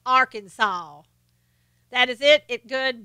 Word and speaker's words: Arkansas: I lived in Arkansas just love it is pronounced Arkansas that is it it good bless your heart